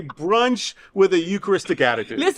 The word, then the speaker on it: Eucharist: Eucharist.